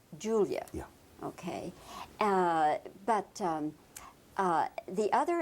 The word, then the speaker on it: Julia: How do you pronounce it? Julia. Julia.